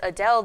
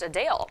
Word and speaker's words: Adele: we've been saying her name wrong while many pronounce it as Adele the singer said it's actually pronounced a Dale she noted the correction during a recent q